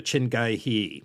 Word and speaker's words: Chin Gee Hee: very authoritative sounding response that boiled down to chingai hee so let's go with that I'd call him